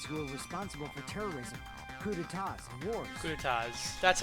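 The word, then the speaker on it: coups d'état: I remember hearing that they're dangerous guys who are responsible for terrorism, coup d'etats, and wars. Coup d'etats. That's how it's pronounced.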